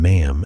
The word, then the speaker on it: ma'am: The correct form of address is your majesty the first time and ma'am afterward pronounced to rhyme with jam, not palm.